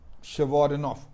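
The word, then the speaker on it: Chvorinov: Can you pronounce this name? Russian origin. Shevorenov.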